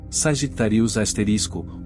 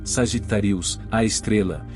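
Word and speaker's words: Sagittarius A*: grande escala do universo sagitarius asterisco ou em uma pronúncia correta sagittarius a estrela está localizado no centro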